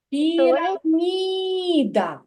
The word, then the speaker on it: піраміда: це слово піроміда піромідаміда куди падає наголос на піраміда пірамі який наголос намі намі намі на третій склад піраміда А у слові машина